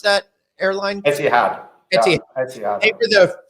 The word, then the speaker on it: Etihad: How do you pronounce that airline? Etihad.